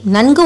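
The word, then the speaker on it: நன்கு: While pronouncing it, the tip of your tongue touches the back of your teeth.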